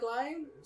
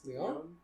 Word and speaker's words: Lyon: transferred to a school because his last name is Lion. Is it smelled like lion? No, Smelled? It's not smelled. Is it It's spelled? It's spelled like the town in France. Dylan, help me out here. Lyon? Yes. Leon? Lion. Yes.